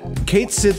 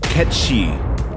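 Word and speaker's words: Cait Sith: But Kate Sith is not actually how you pronounce the name. What is the correct pronunciation of Kate Sith? The answer? Ketshi.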